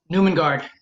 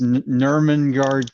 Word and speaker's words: Nurmengard: Newmangard. ooh, And your winner, Hopefully I didn't pronounce it. David Garcia Alonso. It's Nurmengard Castle.